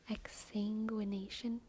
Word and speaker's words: exsanguination: Exsanguination?